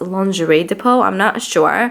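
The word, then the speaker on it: Lingerie de Peau: this foundation it's the lingo II to pull one of you guys told me that it's pronounced lingerie de poele but it's from Guerlain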